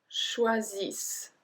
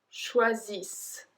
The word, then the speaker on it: choisissent: Il et elle choisissent. So I don't even pronounce the E, I don't pronounce the N, I don't pronounce the T. Hein? Il et elle choisissent.